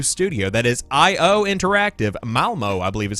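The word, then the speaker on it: Malmö: Malmo, I believe is how you pronounce that location.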